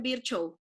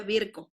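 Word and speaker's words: Virchow: fisiólogo se pedida virco muchos le dicen virch no se pronuncia así se pronuncia virco que definió la tríada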